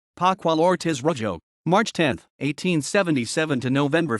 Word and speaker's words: Pascual Ortiz Rubio: Pascual Ortiz Rubio, Spanish pronunciation, Pascual Ortiz Rubio, March 10, 1877 to November 4, 1963, was a Mexican politician and the President of Mexico from 1930 to 1932.